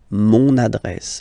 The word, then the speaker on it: mon adresse: my address, mon adresse, mon adresse. Okay, you can hear now this little link, so you get to pronounce this N, mon adresse, okay?